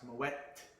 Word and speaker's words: Moët: T is pronounced Moët and Chandon.